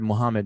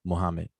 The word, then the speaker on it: Muhammad: it means you know like the very word muhammad muhammad ali like we we say it wrong it's not just said plainly like muhammad that's not how it's pronounced in arabic properly muhammad even muhammad ali the way we pronounce ali that's not how arabic speakers say that word or that name you know so as